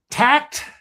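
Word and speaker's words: Takt: And I I I made some notes to myself here and I hope I am pronouncing this correctly. Tact t a kt.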